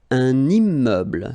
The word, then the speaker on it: immeuble: Un immeuble. So you can see I'm making this little liaison between the two.